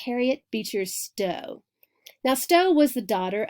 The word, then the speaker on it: Harriet Beecher Stowe: anti-slavery novel written by Harriet Beecher Stowe spoke out powerfully against slavery I think I mispronounced her name its Harriet Beecher Stowe now Stowe was the